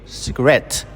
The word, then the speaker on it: cigarette: But when we add the suffix et to create cigarette, the straight moves to the second syllable, which is cigarette.